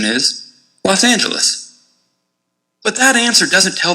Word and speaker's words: Los Angeles: to pronounce los angeles the short answer is that it depends on whether you're using the spanish or anglicized pronunciation the spanish pronunciation is los angeles and the anglicized pronunciation is los angeles but that answer doesn't